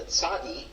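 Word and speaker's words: צדי: The second color is orange, and that is for the tzadi, which in contemporary Hebrew pronunciation is going to be a ts sound, like in pizza.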